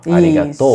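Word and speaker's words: ありがとう: né sim serig arigatou então tem uma elevação no tono final arigatou isso né Aí é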